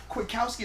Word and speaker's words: Kwiatkoski: Is it Nick Kwiatkoski? Is that how you say it? Yeah. Kwiatkoski.